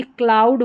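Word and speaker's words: cloud: और सी एल जो है, सी एल को क्ल करके पढ़ते हैं, सी एल का उच्चारण क्ल होता है, तो ये क्लाउड हो गया, क्लाउड।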